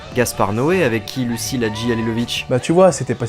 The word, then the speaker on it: Hadzihalilovic: Deuxième long métrage de la réalisatrice, monteuse, scénariste et productrice Lucile Hadjialilovic. Ça se prononce Hadjialilovic.